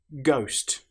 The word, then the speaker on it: ghost: Ghost. The letter H, as you'll notice, doesn't sound at all.